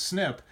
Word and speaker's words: SNP: snip that's in there and the snip it's is SNP they pronounced it's snip and it stands for single nucleotide polymorphism and so that's just